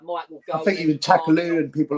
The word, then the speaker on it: Takaloo: It rhymes with Vindaloo.